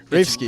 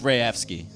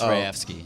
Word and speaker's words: Rayevsky: How do you say it? Rafsky. It's Rayevsky. Is it really? It's Rayevsky.